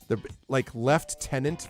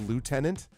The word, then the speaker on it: lieutenant: about military ranks from lieutenant versus lieutenant. How do you get lieutenant out of L-I-E-U-T-E?